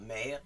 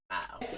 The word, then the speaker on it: merde: Yeah, on dit pas merde, on dit marde.